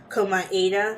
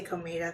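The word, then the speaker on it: Komaeda: class trial that said that his name was pronounced his last names count koma ADA but I'm still gonna say comida because that's how I've been pronouncing it this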